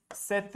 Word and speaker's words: cette: ये जो CET सेट है और CETTE इसका जो साउंड और प्रोनाउंसिएशन है सेम है, सेट ही रहेगा।